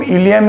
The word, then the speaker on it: ilium: इन दोनों में डिफरेंस है, प्रोनाउंसिएशन दोनों का सेम है, दोनों को हम इलियम ही कहते हैं, लेकिन ये जब ILIUM